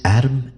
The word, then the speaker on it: ADM: ADM and R EM, pronounced Adam and Rem.